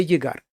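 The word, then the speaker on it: llegar: Акабоде єгар. Зверніть увагу, як я вимовляю. Акабоде єгар. Оце от подвійне л, як є наше єр або йод.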